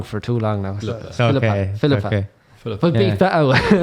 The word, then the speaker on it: Philippa: I've been saying that name wrong for too long now. Philippa.